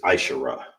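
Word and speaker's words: עשרה: All right, how you say 10 is ashara. All right. Ashara. That's how you say 10 in Hebrew, okay? And how you how this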